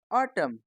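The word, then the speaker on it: autumn: टी यू एम एन इसमें जो आखिरी का एन है वह साइलेंट है तो यह क्या बन गया ऑटर्म नेक्स्ट सी ओ एल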